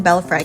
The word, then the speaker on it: Belfry: Just a few steps from the Manila Cathedral you'll find the charming Belfry Cafe (*pronounced as bel-free*) while La Cathedral offers